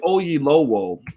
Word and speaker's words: Oyelowo: his name right because i don't want to mispronounce the brother's name but david ogie lowell uh is an actor that you've seen a